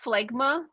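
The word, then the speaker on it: φλέγμα: And there's something about phlegma, like I believe they would have said the hard G.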